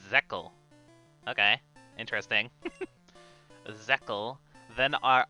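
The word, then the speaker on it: Zexal: let's pronounce zack zeckel wait really it's not zexizol it's zekkel okay interesting zekkel then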